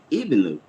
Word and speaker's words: Ibnu: Ibnu, did I pronounce your name correctly, ma'am? Yeah, that's exactly how you pronounce it.